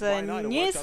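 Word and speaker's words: Neith: Нейс, она так и произносится. Это не Т на английском. Не Т. Так что вполне возможно ее произносить как Нейс.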